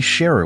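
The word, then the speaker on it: Sheru: returned to claim suu he also learned he had been mispronouncing his name his whole life his name is actually Sherer which means lion and then we see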